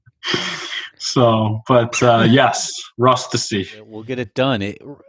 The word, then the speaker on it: Rustici: the last name but it's actually pronounced rust to see rusty yes and then